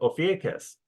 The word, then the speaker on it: Ophiuchus: All right, now let's take a look at the minor constellation of Ophiuchus. And that's pronounced different ways. That's how I pronounce it.